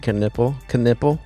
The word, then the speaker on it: Knipple: Personally, if your name was Knipple, that's how they pronounce it, Knipple on the when you're watching the games. Why wouldn't it's not even spelled like that? Like if you look at it, it's not spelled nipple at all.